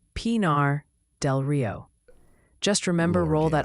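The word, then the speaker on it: Pinar del Río: It's Pinar del Rio.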